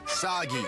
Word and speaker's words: Sagi: Cliché burden boy of action who will save us all is named Sagi. Rhymes with Saki.